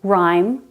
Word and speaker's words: rhyme: in ghost or ghetto h is silent after r like in rhyme rhythm and rhubarb but this rule doesn't